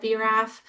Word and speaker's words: BRAF: And for yeah, me, BRAF would be B-RAF. I know, and it's not like in the papers it gives you the pronunciation. Okay, well, now we all sound a little bit smarter, and thank you for letting me interrupt. That makes me, okay, so from here on, I will say BRAF. It will be one extra syllable to make my talks even a little bit longer.